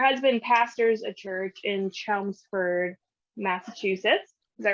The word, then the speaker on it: Chelmsford: But her husband pastors a church in Chelmsford, Massachusetts.